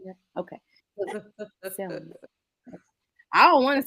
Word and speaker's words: Selma: I know I did say it like Salmon, bitch, But 'cause we I'm know you hungry.